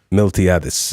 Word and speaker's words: Miltiadis: Miltiadis.